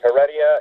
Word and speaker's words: Heredia: it's actually both correct if you pronounce it in English its Heredia if it's in Spanish